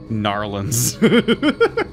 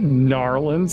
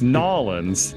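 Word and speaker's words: New Orleans: like how in louisiana they say gnarlins not gnarliness there's no r it's nollins no now lens you don't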